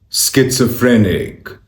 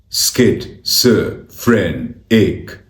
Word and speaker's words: schizophrenic: This word could be saved pronunciation here. schizophrenic schizophrenic schizophrenic skit-so-phren-ic skit-so-phren-ic skit-so-phren-ic schizophrenic schizophrenic schizophrenic